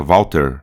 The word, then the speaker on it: Walter: porque a gente pronuncia Walter, né? Walter. Algumas regiões com mais aspirado, né? A gente tem o V normal, o A normal, esse conceito do som U com o W, o T, o E